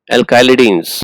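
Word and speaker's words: alkylidenes: Alkylidines. More appropriate pronunciation is alkylidines.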